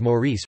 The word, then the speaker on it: Maurice: Mauritius is also commonly known as Maurice pronounced M-is and Île Maurice in French, Maurice pronounced Moise in Mauritian Creole.